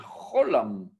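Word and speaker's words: חוֹלָם: Mais en fait, le olam, on ne dit pas olam, on dit un cholam.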